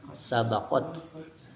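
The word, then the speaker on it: سبقت: Ta ta itu termasuk huruf hams. Jadi harus ada hams nyees sabaqat.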